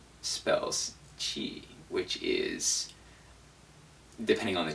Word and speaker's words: 吃: So again, it's qi. 吃 One final note about this word, and that's it. I've seen a lot of people suggest that you pronounce it CHER. I think honestly this is a bad idea. The reason for that is because not only is the R sound in Chinese one of the hardest sounds for native English speakers